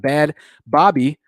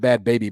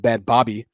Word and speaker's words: Bhad Bhabie: we're gonna talk about bad bobby i believe that's how you say her name properly not bad baby but bad bobby and her million dollar